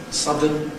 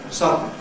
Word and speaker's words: sudden: of syllabic consonant formation whereby a schwa, and an n coalesce to make syllabic perhaps a bit longer than an ordinary n, so that you can tell it's a separate syllable. So sudden gives you sudden.